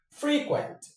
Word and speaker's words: frequent: So, frequent. Frequent is an adjective and the stress goes on the first syllable. For the verb, frequent. Frequent.